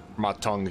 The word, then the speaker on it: Ma Teng: Ma Teng, excuse me. I've been saying his name wrong for so long.